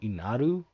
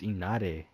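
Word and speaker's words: Inari: I've been pronouncing it wrong. I keep saying Inaru. But it's Inare.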